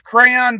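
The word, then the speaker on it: Craiyon: It's Crayon, but it's spelled with an AI in the middle website.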